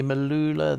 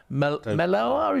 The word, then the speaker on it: Melua: Katie Malula. The other is it? I never know how to pronounce her name. Melua, is it? Melua. She had some. Katie Melua. Yeah, Melua.